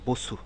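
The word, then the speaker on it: 버스: শব্দ বসু বুসু বুসু এটার উচ্চারণটা খেয়াল করেন বুসু বুসু এই শেষে যে এরকম একটা দাগ রয়েছে এটা আমি যখন উচ্চারণ এটা নিয়ে যখন আলোচনা করেছিলাম তখন বলেছিলাম এর উচ্চারণটা দাঁতের দুই পাটি লাগিয়ে রসুকারের উচ্চারণ করলে যেরকম হয় ঠিক সেরকম এটির উচ্চারণ হবে বুসু বসু দুই দুই সিলেবেল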